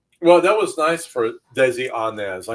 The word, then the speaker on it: Desi Arnaz: that was nice for desi arnaz i know william with his english accent accident pronounced the name correctly but that was desi anez also known as ricky